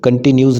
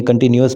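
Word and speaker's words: continuous: However with the better attitude and कंटिन्यूअस efforts, कंटिन्यूस नहीं है, कंटिन्यूअस बनेगा, मैं इसे बता देता हूँ, स्पेलिंग में गड़बड़ है, कंटिन्यूअस, NUOUS, कंटिन्यूअस efforts, we will soon have a society.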